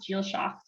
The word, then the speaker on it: Dìlseachd: And she's like, yeah, it's actually pronounced jeel-shock.